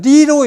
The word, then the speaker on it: 麗: 근데 중국식으로 했으니까 그런지 정확하게 그렇게 읽지 말아라. 레로 읽지 말아라. 그리고 뭐라고 읽으냐? 리로 읽어라.